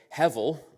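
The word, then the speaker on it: hevel: one more Hebrew word heavil it's got a B in the middle but it's pronounced like a V it's very similar to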